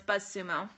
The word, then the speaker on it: BuzzSumo: BuzzSumo, yeah, Esteban, it's BuzzSumo. Yep, it's exactly how you spell it.